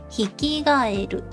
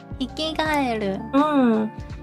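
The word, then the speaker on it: ヒキガエル: frogs are kaeru, but some words in Japanese, when it's combined with other words, the pronunciation changes a little bit. And so for this one, instead of saying kaeru, we have to say g, the G sound. Gaeru, hikigaeru.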